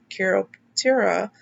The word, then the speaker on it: Chiroptera: tells us over here so this is cure optura chiroptera a greek name that means hand wing